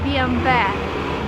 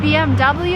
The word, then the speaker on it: BMW: This is a German car, and in Germany you would say BMW. But if you're in America and you want to sound American, it's BMW and no other options.